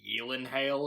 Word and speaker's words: Gyllenhaal: saw an interview and he said it was pronounced something like healing hail or something because it's swedish but everybody pronounced the gel and also but whatever